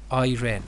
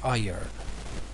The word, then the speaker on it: iron: in pronunciation that they call it or they pronounce it as iren but it is iron scorched the tablecloth tablecloth actually is a piece